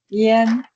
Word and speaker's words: yan: So think of the y as a I, right? When you write as I-A-N, but it's pronounced as I-E-N. Remember? Yen, yan, yen.